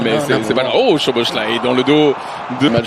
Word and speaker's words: Szoboszlai: Oh, Szoboszlai dans le dos de match, je le prononce très bien, Szoboszlai, puisque c'est lui qui